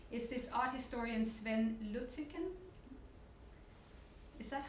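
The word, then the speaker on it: Lütticken: of your stuff, is this art historian Sven Luttiken. Is that how you pronounce it?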